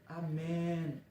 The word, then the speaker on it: amém: hebreu uso hebraico e ela se pronuncia com e fechado amém como você sabe o